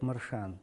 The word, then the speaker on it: Маршенов: черкесском языке звучит, например, тот же Маршан, он пишется Маршенов, но на черкесском звучит как Маршан.